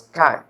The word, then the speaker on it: chi: It will be pronounced as chi. Let's say, you know the term what is sky, S-K-Y. If you pronounce sky without S, then it comes to be chi. So it is a chi-square test, right?